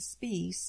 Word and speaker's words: Spies: writer of that time his last name is pronounced spice even though it's spelled s-p-i-e-s he had written for